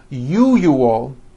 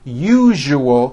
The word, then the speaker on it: usual: are very very common if you are someone that pronounces the word usual as ual I'm telling you you are not being understood let me show you how to pronounce the word usual correctly break it up into three syllables u o that second syllable Zu the one with the underline needs to be voiced put your hand on